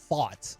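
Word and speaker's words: Pfaadt: How do you say his last name? Fott, I do believe. The stupid P, right? Not him. Just there's a P in his last name. It's PF. Not even PH.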